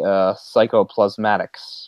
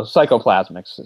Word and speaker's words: psychoplasmics: And Raglan calls this psychotherapy psychoplasmatics, or something along that line. Psychoplasmics. Or plasmics. I added an extra syllable, so psychoplasmics.